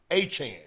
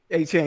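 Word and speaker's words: Achane: It's like Jackie Chan. Yes. It's a Chan. A Chan.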